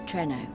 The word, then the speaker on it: Treno: The center is the oldest part of Treno.